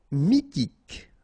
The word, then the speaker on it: mythique: Mythique. Remember, Q-U at the end, K, okay, and then Y is pronounced like I. Mi, H is not pronounced. T, K. Mythique.